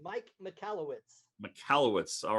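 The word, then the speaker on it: Michalowicz: And I forget how to pronounce his name. Was it It's Mike McAllowitz.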